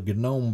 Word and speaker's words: GNOME: Oh, I hate saying that word, GNOME, but if you say gnome like a garden gnome, your nerd friends will freak out and tell you, oh no, it's pronounced a GNOME, as if that really makes a difference.